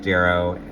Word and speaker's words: Darrow: So full of details, and it is pronounced Darrow. That's why he does his little signature with a D and then an arrow.